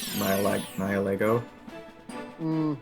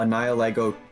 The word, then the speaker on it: Nihilego: If you look at Nihilego, or however you want to pronounce Nihilego, I pronounce it like nihilism, Nihilego.